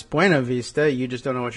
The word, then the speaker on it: Buena Vista: day it was, because that town of what would otherwise be Buena Vista in Virginia is insistent that it is pronounced Buena Vista. And if you go there, they'll say it's Buena Vista.